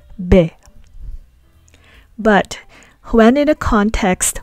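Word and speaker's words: בֶּ: When in a context where it means in or in the something of, we'll explain that later on, we pronounce it as be.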